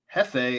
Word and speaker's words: jefe: sandwiches lately tea win el jefe is spanish and is pronounced hefe as in j-e-f-f-e jefe j-e-f-e is it yeah